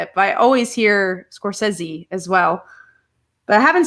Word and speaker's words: Scorsese: oscar movie it's um Martin Scorsese or is it is this coursezi or Scorsese never know everyone pronounce I think people today of both ways yeah I always used to say it's Scorsese and I think that's